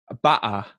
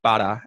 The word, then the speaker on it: butter: It's very similar, but we don't use the glottal stop. So you won't hear butter, that kind of stereotype, butter. We'll say butter.